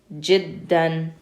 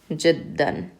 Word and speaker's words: جدا: Remember, when you have fathatain, you're going to pronounce it with the n sound.